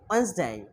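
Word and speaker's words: Wednesday: টিউসডে টিউসডে টিউসডে তারপরে আমরা এতদিন যেটা মারাত্মক ভুল করতাম বলতাম ওয়েটনেস ডে ওয়েটনেস ডে ওয়েটনেস টোটালি রং তাহলে কি হবে Weil's Weil's day ডব্লিউসডে ওয়েন্সডে ওয়েন্সডে তারপর হলো থার্সডে থার্সডে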